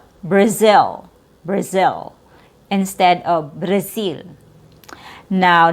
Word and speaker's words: Brazil: And also the consonant before your short I sound now sounds like an S and add a Z sound. Brazil instead of Brazil. Braz Brazil. Brazil which is natural. It's more natural from a Z sound going to a short I sound.